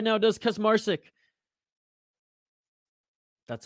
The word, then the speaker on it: Kaczmarczyk: control moves into side control right now does Kus Marik that's how you say his name sorry for mispronouncing it all those times before inside control